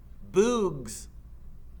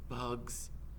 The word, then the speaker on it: bugs: weary face as well bugs he said good said stanley remember it's a short u if there's no e at the end okay here's a hard